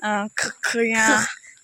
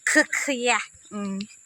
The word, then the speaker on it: Hokiye: It's very hard to pronounce. Yeah. You don't need to take out your tongue also. Hokiye. Hokiye.